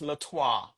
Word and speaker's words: Letwa: So, everybody says that and that's okay, but it's actually pronounced Latwa.